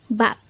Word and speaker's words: 밥: discuss about the word bap. Let's start. Learn Korean one word at a time. Only here at Dae-Hangul. Word number 113. Bap. Bap. This is just composed of one syllable.